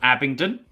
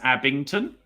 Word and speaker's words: Abingdon: uh a place called Abingdon okay yeah with a D I spoke to a contemporary of yours not too long ago and they kept mispronouncing it as Abington so just to make